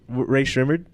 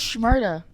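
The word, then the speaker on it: Rae Sremmurd: dude, that was the wild Ray Shrimmered. Now back to what I was saying. Oh, I thought it was Shmurda.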